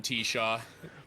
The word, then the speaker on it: Tshaw: I'm T-Shaw.